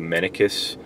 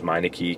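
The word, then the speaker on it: Mennekes: I believe it's called the Menicus. Sometimes mispronounced as Meineke connector.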